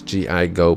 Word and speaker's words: Gigo: My name is G-I-Go, put it together, and it's pronounced Gigo.